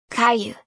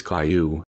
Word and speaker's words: Caillou: little brother's name is you know how my name is Caillou right well maybe he pronounces it like most do kai who okay I see so